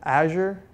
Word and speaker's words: Azure: talk about cloud initiatives so Asher rhymes with badger always remember that it not a juror or any other pronunciation so you're you know